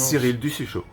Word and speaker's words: Cyrill Dussuchaud: Rappelez-moi le nom, votre nom alors comment on le prononce ? Cyril Duchotud. Du chouchou.